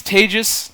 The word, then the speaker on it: Tejas: My name is Tejas. That's pronounced like contagious, but don't worry, I'm not contagious.